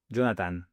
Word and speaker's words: Jonathan: Mes amis m'appellent Jonathan, mais en Espagne, on prononce toutes les lettres. Donc, Jonathan.